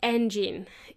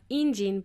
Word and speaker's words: engine: The next word my friend didn't know to pronounce was the word engine. It is spelled with an E, and you would think that it would sound like engine, but it is actually engine.